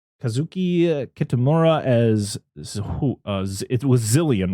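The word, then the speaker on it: Xilien: Let's say in the English dub they say Exilion. I was like, I don't think that's how you say it. Should just be.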